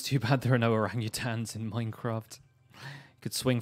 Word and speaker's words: orangutan: But I love the way David Attenborough says orangutan. It's like orang-utan.